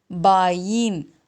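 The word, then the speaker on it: बाएँ: பாயின். அந்த ஈக்கு மேலே ஒரு டாட் வச்சுருக்காங்க. ஸோ அதனால் நம்ம என் ப்ரொனவுன்ஸ் பண்ணோம். பாயின் அப்படின்னா இடது.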